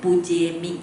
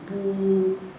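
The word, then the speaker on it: pūjemi: If you say Pujemi, it's not correct. Pu long, Pujemi, alright? It should be long sound.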